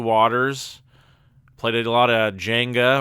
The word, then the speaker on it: Jenga: Kelly and I had a few waters, played a lot of Jenga, or as some people would pronounce it, Yanga, if depending on what region you're from.